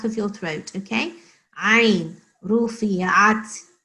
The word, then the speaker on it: رفعت: So not ru, it's not ru, it is ru. You have to like roll your tongue a little when you say it.